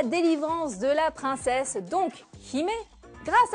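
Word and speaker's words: 姫: En fait, princesse en japonais se dit Hime, il s'écrit comme ceci.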